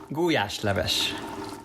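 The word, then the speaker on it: gulyásleves: is called in Hungarian how is it guash leish guash is a place and leish is soup pe's love and leish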